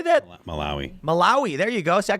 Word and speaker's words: Malawi: Malawi. There you go. See, I couldn't even pronounce that one.